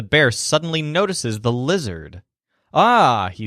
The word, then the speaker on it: ha: Remember that the H's are silent here.